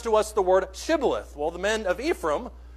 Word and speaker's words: Shibboleth: to us the word Shibboleth?" Well, the men of Ephraim could not pronounce it because of their dialect. They couldn't pronounce it that way. And they pronounced it Sibboleth, minus the H.